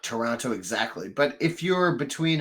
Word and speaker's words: Toronto: __ ] City yeah no it's Toronto it's Toronto that's how you say it because there's a tea